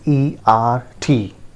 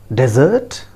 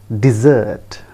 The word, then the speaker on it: dessert: It is spelled as DESSERT. Desert.